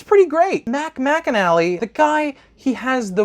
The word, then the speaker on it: McAnally: Center but by far my favorite is Mac McAnally I didn't know that that was how you pronounce his last name this guy right here